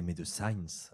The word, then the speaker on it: Médecine: Je suis entré chez Médecine, prononcé Médecins, le 7 février, le même jour que Cristal.